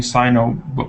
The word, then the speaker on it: sign: And so if you separate it, there's sign, and the G is not pronounced.